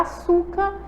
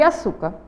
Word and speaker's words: açúcar: vamos lá vamos observar a sílaba tônica de açúcar açúcar então aí ó osso certo ele tá ali acentuado porque ela é uma paroxítona terminada aí na letrinha R vocês lembram a e